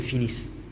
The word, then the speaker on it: finissent: on a ajouté ONT mais on prononce pas l'ONT ils sont silencieux donc on prononce elles finissent c'est pareil pour ils